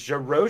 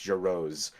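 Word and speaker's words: Jarosz: I never I'm not you're saying it right the first way Jos so it's Jer Ro technically but she has interviews from like 2014 where she's like it's Jose and it's like okay oh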